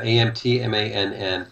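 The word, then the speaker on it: Antmann: Yeah, I don't want to it's it like Ant-Man only with an M. So, and two Carla N's Ant-Man, yeah, Ant-Mann.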